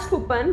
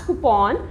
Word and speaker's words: coupon: shirt today next word is coupon people call it as kupan but it is not the correct pronunciation it is called as coupon for example i got